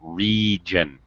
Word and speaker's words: region: thing here pav uh pronunciation it's a long e uh long I sound region region region that's it excellent okay